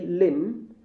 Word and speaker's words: limb: There are B here, but silence B. A. Thumb. C. Limb. And D. Climb.